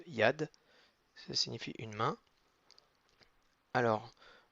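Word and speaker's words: יד: mains donc une main ça se dit yad c'est youud avec un kamas et un det avec rien du tout donc ça donne juste yad ça signifie une main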